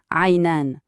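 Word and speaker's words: عينان: On retrouve bien sûr char pour les cheveux, mais regardez bien le mot pour les yeux, aynan. Ce n'est pas juste ayn, c'est la forme duel, une particularité de l'arabe pour dire qu'il y en a exactement 2.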